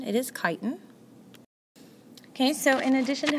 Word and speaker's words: chitin: It is not pronounced chitin. It is chitin.